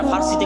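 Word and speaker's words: فارس: আর পারস্য হচ্ছে ইরান, যারা ফার্সিতে কথা বলে। আমরা পারস্য বলি, আর এটা ফার্সি, ফুরস। আরবিতেও ফারিস নামে তাদের কথা এসেছে, আরবিতে কোনো পর উচ্চারণ নেই, সব ফারিস।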